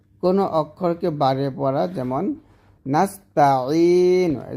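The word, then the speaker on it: نَسْتَعِينُ: অর্থাৎ নাস্তাইনুকে নাস্তাইনু পড়া, নাস্তা বলা যাবে না, এই তাতে টান দেওয়া যাবে না।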